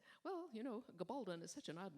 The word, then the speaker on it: Gabaldon: And were we speaking Spanish, it would be Gabaldon, which is why there's a long O in the last syllable, and it's Gabaldon in English.